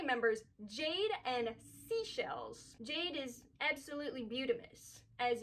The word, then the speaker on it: Seychelles: Moving right past two, we have our series 3 members, Jade and Seashells.